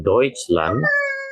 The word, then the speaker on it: Deutschland: Deutsche ini berarti orangnya dan Deutschland ini berarti negaranya. Ya, jadi EU tadi ingat ya. Itu dibacanya menjadi OI. Maka di sini dibacanya Deutsch, Deutsche, Deutschland.